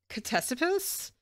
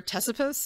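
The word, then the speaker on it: Ctesippus: pronounce this name um it's cipus or tesus is what he told me who ends up throwing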